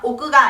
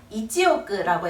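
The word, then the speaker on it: 一億: 1천만이라고 읽어 주세요 마지막으로 억은 이찌 오그 그냥 오가 아니라 이지오 그라고 해서 1억이라고 읽어 주셔야 되는 거 기억해 주세요 자 오늘은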